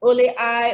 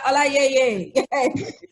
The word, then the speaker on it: Olayeye: I mean, because like in America, people are like Ole I, Ole. I'm like, no, say Ola and Yeye. Put it together, Olayeye.